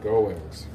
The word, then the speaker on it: Goins: How do you pronounce that? It's Goins, right? Goins? Goins? Gomes? Goings. Okay, Goings.